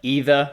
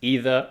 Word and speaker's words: either: spellings um yeah and some words like either can be pronounced either or either they're both correct so yeah it doesn't